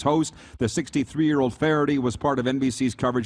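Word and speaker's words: Feherty: Faherty.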